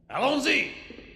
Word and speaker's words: Allons-y: Allons-y. Allons-y. Allons? So there's Al on Z, is that right? Yes, they go with that. Allons-y. So they were French. It is French.